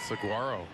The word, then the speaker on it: saguaro: can have it back saguaro cactus correct is that what it's called soft G the g is silent I should know that